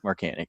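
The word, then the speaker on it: Markanich: he's like, oh yeah, no one knows how to say it right. It's like Marcanic. He's like, it's Marcanic.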